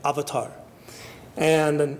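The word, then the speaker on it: avatāra: in what's called an avatar and or in Sanskrit pronounced avatara and maybe you've seen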